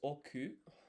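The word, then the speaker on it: 億: Okay, so 100 million is oku.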